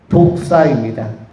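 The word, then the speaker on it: δόξα: 뜻이고, 그 다음에 헬라어로는 독사입니다. 독사. 여러분 독사라는 생물체도 아시죠? 뱀의 종류 중에는 뭐가 있어요? 뭐가 있죠? 독사. 근데 이 독사가 발음이 똑같은데 헬라어로는 독사가 뭐예요?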